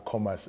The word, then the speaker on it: Khomas: for the commas region I'm saying commas because that's how you say it according to the people who speak the language but you're also welcome to say uh Commerce region and we're coming